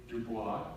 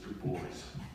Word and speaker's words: Dubois: the chrome near present-day Dubois I guess the American pronunciation is boys and then from there